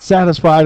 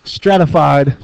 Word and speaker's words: stratified: Not stratified. Not satisfied. It's stratified. Just one S.